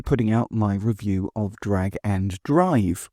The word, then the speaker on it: Drag x Drive: out my review of Drag and Drive, or Drag X Drive, as it's written, or Drag Drive, like anime fans might mistakenly think that it's pronounced.